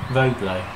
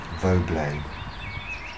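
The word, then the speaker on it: Vauxbelets: Voblé. Valley. Voblé. I'm not sure how that's spelled, but there you V-A-U-X-B-L-E-T-S.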